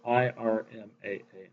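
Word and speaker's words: IRMAA: result so they instituted what is called IR MAA don't ask me to spell it out it's just known as Irma it's a wealth tax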